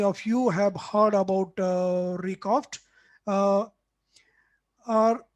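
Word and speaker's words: RECOFTC: this short name is rikoft uh with c silent at the end so that's how we pronounce it recoft uh so at record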